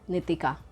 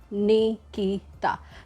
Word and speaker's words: नितिका: कुछ ना कुछ ऐसी चीजें करनी है तो कंसीडर कीजिए वर्किंग वि नितिका। सबसे पहले कह दूं नाम है नी ती का नॉट नी की ता तो नाम सही लेने